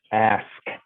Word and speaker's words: ask: to me and said, stop dropping the K, drop the X as the K. It's not X, it's ask.